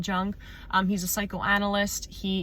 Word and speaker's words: Jung: off with talking about Carl Young or Carl Jung however you want to pronounce it I'm pretty sure it's Carl Jung um he's a psychoanalyst